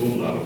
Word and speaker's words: umlaut: Gary did not know how to pronounce words with an umlaut until he studied German.